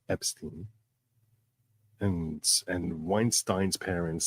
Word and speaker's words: Weinstein: They all said Steen. All of them. But then it became something like, oh, it's more American to pronounce it as Ein. So that's what happened. But I'll tell you that their father, the grandfather, the great-grandfather all pronounced it as Een.